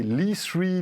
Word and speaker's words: E3: C'est l'E3, l'E-Cube, l'E3, tout dépend, on peut le prononcer comme vous voulez.